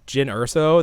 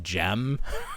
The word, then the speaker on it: Jyn Erso: the characters' names, and they don't even know her name is Jyn Erso. They're like, I think her name is gonna be pronounced Jem or Jen Erso. Jen.